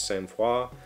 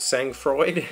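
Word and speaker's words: sang-froid: r o i d so that sang Freud is how I would have said that had I encountered that in a book but the pronunciation key seems to think it's one of the romance languages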